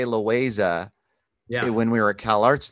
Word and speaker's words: Loayza: Well, the thing is like Americans call it, it's Loayza to them, but it is Loayza. Yeah. So, I was thinking about it because I used to say Loayza when we were at CalArts together.